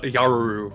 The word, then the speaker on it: Jarul: pronounced with a W with a Y sound as opposed to a j sound irrelevant no no should